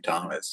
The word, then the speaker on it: Thomas: I mean, Tom, like how many people name Thomas? You know, it has an H in it. You don't even pronounce.